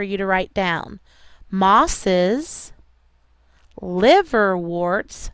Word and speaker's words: liverworts: And liverworts looks like this. Liverworts is L-I-V-E-R-W-O-R-T-S, just like you would think of liver and warts, but it's spelled a little different.